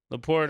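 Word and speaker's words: LaPorta: I want to I want to mention um Le Porter is that how you say his name leapor yeah he he did he's he's playing he's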